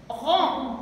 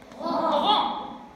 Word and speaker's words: rang: R plus en, G ne se prononce pas.